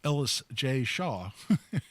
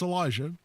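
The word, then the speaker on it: Elisjsha: I always think of it as Ellis J. Shaw, which is how you're tempted to pronounce it, but it's Elijah.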